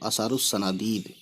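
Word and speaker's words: آثار الصنادید: अलिफ और लाम साइलेंट कर देना है। तो असारुस सनादीद पढ़ेंगे, ठीक है।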